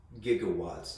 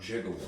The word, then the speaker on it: gigawatts: this unit before um 1.21 gigawatts is what you would pronounce it it's not jiggle that but that i